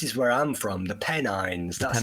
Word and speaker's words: Pennines: Yeah, well, this is where I'm from, the Pennines. That's how you Pennine.